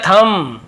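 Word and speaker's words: thumb: कहा give me द थम थम पढ़ेंगे थम नहीं पढ़ेंगे बी साइलेंट थम नहीं बोलते वैसे ही कम नहीं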